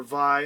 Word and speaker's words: Vay: But I think that VE or Vi, however you say it, however you want to say it, I've heard it pronounced both ways, is a good starting